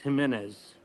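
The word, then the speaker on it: Jiménez: That's actually pronounced Jimenez.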